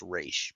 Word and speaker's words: Ra's al Ghul: controlled like a big giant yakuza family by Ra's al Ghul. Well, technically, it should be pronounced Raish, but they go back and forth.